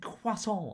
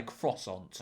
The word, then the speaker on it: croissant: I know some people get annoyed at me going it said quason. I'm not French. I'm not going to say it like that. I'm English. I'm going to say croissant.